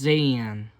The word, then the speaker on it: zaneian: But usually, because the Z has a little line, it usually means that it have to have an E. So it's zaneian. Zaneian would be its pronunciation.